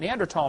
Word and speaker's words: Neanderthal: By the way, in case you don't know, the Neanderthal, the H is silent, Neanderthal man is named after